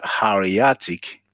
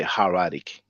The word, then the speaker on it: hieratic: Many times I've pronounced it hieratic because in French we pronounce it hieratique, but I think in English you say hieratic and demotic, you know.